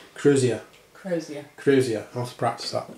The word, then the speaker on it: crozier: I always say Crozerus or something like that. I always say it wrong. Crozier. I'll have to practice that. Crozier.